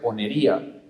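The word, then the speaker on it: πονηρία: Y el segundo, la palabra griega de la cual se deriva esto, se pronuncia ponería.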